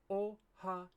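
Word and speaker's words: おはよう: of course good morning common mistake that English speakers make when they're writing the word oh we seem to want to put an e sound between ha and yo and it really doesn't need one it should be oh Hao oh you often hear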